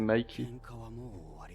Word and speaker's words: Mikey: C'est vrai que la prononciation, je dis Mickey, mais c'est Mikey.